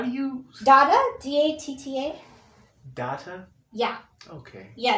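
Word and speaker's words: Datta: do you data d-a-t-t-a data yeah okay yeah it's spelled like data just with an extra t yeah you're so young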